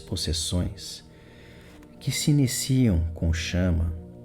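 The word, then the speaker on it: Shama: Chama se escreve S-H-A-M-A.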